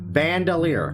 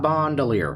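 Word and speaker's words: bandolier: sold and no bandier I'm saying it right bandier not Bandelier I'm going to smack the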